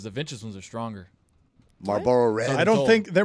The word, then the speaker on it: Marlboro: How do you pronounce that? That's Marlboro.